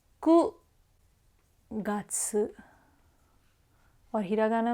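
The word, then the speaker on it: 九月: वह सितम्बर अब आप सोच' क्यूगात्सू कहते हैं भगवान, क्यू गत्सु इसलिए उच्चारण में वहाँ एक अंतर है, इस पर ध्यान दें। इसे रखें। क्यूगात्सू' इसे मत पढ़ो,' कुगात्सु 'पढ़ने के लिए' हाँ।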